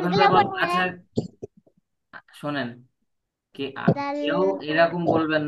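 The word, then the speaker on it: دال: এইটাও একই জায়গা থেকে উচ্চারণ হবে, জিহ্বার আগা। এই যে জিহ্বার আগা, সামনের উপরে দুই দাঁতের আগায় লাগাতে হবে। হ্যাঁ। দাল। দাল, অনেকে এরকম বলতেছে, কে জানি এরকম বললো, জাল।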